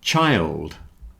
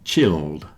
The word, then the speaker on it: child: follow the same pattern and a child is not chilled so so child don't forget the plural is children so the plural is more like chill but chilled is when you keep something in the fridge so it's nice and cold like this beer you often have beer that is best served chill but one child two children so child not chilled busy rhymes with dizzy